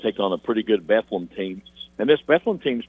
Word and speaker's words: Bethlehem: But yeah, they want to be called, Bethlehem, not Bethlehem, even though it's spelled Bethlehem.